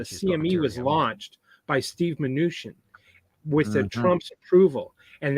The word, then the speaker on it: Mnuchin: And how do you pronounce his name? Mnuchin. Oh yeah, Mnuchin.